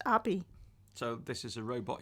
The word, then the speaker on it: Aibi: I when we see AI, but no, apparently it's pronounced Aibi.